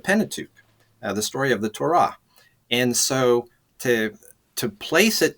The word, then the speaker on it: Torah: In the Hebrew, the accent tends to be on the second syllable, so they would say Torah.